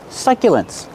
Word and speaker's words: succulent: survive they will live succulents pronunciation use the short uh like up and cup suck succulence use the Y sound like yesterday y y succulent these are called succulents